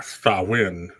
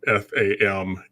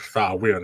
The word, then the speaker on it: Samhain: the original word uh sawin which is actually spelled s-a-m-h-a-i-n uh so it looked like it would say samhain but it's pronounced saw when it's an old gaelic word but that name is